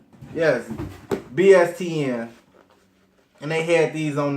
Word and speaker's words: BSTN: Yes, BSTN.